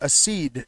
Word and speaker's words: accede: I was pronouncing it wrong that whole last time, but you got it.